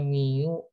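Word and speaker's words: μ: X dengan syarat new ini dibacanya Miu AX artinya ini nilai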